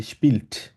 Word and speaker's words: spielt: ঠিক আছে আপু, তবে একটা জিনিস আপনি খেয়াল রাখবেন, যখন স্পিল্ট বলবেন আপনাকে জি জি টিটা একদম ক্লিয়ারলি উচ্চারণ করতে হবে, ঠিক আছে? স্পিল্ট মানে spielt.